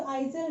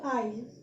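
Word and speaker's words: aisle: এটার মধ্যে এস আছে, ভূষণ দেখো এস আছে, তার জন্য এটার প্রোনাউন্সিয়েশনটা কিন্তু আইজেল না। ঠিক আছে, এটার প্রোনাউন্সিয়েশনটা কিন্তু আইল।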